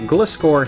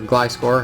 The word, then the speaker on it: Gliscor: Uh and then we got the Gliscore here or Glyscore, however you want to pronounce it either way.